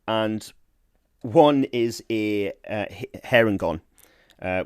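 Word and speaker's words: Harengon: one is a uh hair and gone uh which i assume is meant to be pronounced here and gone um which is a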